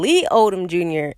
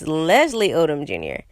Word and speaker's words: Leslie Odom Jr.: I was calling him Lee Odom Jr. and it's Leslie Odom Jr.